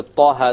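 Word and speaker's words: طه: Okay, both of them are 2 harakas long. So we pronounce it Taha, Taha. If we were to make it longer, it's a mistake. Ta or Taha, mistake. Each one has to be 2 harakas.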